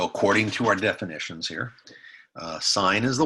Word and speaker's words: sine: That's how you spell cosine, S-I-N-E. You don't pronounce that sin, it's sine.